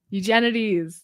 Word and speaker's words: Eugenides: Eugenides.